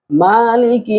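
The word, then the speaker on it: مالك: মালিকি ইয়াউমিদ্দিন মালিকি মিমের উপর খারা জবর এক আলিফ মদ জের কাফের নিচে লামের নিচে জের কাফের নিচে মালিকি ইউমিদ্দিন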